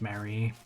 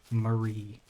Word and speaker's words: Marie: Well, you will be missed, Mary. Why did I say her name that way? Marie.